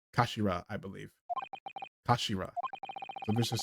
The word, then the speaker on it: kashira: It's written as head in Japanese, but pronounced as kashira, I believe.